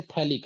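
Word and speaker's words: phthalic: हम क्या कहते हैं, थैलिक एसिड। ठीक है, यहाँ पे H साइलेंट होता है, P भी साइलेंट होता है, ठीक है, PHTHLIC, थैलिक एसिड इसको कहते हैं।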